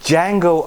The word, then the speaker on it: Django: So Django Unchained, because Yes. the D is silent.